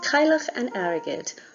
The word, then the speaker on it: Cailleach an Airgid: it in Irish just a quick note on pronunciation before we get started there are today we have kyloch and arrogate or also known as shida wamawi enjoy fall